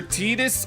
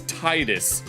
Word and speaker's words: Titus: His name has two pronunciations. It's either Titus or it's Titus. Kingdom Hearts 1 uses Titus, but Kingdom Hearts 2 uses Titus.